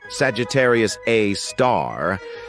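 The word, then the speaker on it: Sagittarius A*: We've got Sagittarius A, which is pronounced Sagittarius A star.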